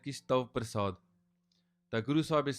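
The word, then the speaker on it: ਪ੍ਰਸਾਦਿ: And then when we say Tav Prasad, we don't say Prasad, because prasad is something that we get. It's prasad, which is slight different pronunciation, prasad, and no shasha is sasa, and that's referring to it being kirpa.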